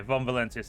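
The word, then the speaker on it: Von Valancius: is Von valencius bloodline yeah Von valencius that's how you say it see um y I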